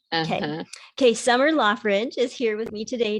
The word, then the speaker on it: Loughridge: i say it correctly lothrich it's like a th okay okay summer lawfridge is here with me